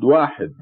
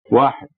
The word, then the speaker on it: واحد: It is pronounced Wahid. Wahid. And at the time of revelation of Quran, there were no numbers as we know them today.